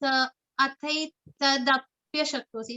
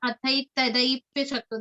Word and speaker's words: athaitadapya shaktosi: And it's athaitadapya shaktosi. It's not athaitadaipya shakto. There is no I matra, there is no I syllable In it. in the later half of the word.